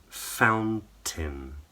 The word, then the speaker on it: fountain: So it should rhyme with the word tin. So copy me. Mountain, fountain, captain.